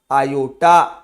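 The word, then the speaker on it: iota: और इसको कैसे प्रोनाउंस किया जाएगा? आयोटा। क्या बोला जाएगा?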